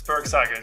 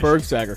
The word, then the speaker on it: Bergsager: to have is it Berg sagger it's Berg sagger good pronunciation Berg sagger thank you yeah no he's a cro Powerhouse